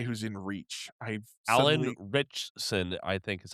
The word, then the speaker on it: Ritchson: I've Alan Ritchson, I think is how you say his name. Ritchson.